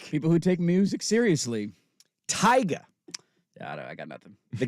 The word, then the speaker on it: Tyga: got to say it tiger you got to say it like that well it's Tyga okay it's tiger it's not not trying to say cool he's not Tiger Woods he's tiger he's tiger